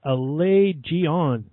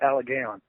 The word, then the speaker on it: Allegaeon: Haynes he is the vocalist from the band Alay gon pronounced it right didn't I close close uh one of the closer ones you should have went with aligon it's a Al yeah it's a legion a